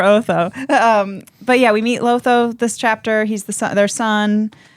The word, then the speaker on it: Lotho: But yeah, we meet Lotho this chapter. He's their son. He kind of just follows his mom around while she's being a Karen. Terrible name. Lotho. about that. But it rhymes with Otho.